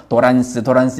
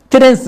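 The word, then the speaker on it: trance: 영어로는 트랜스인데 일본 사람이 영어 발음을 잘못해서 도란스 이걸 우리가 사용하고 있는데 트랜스, 이렇게 변환되어진다는 거죠.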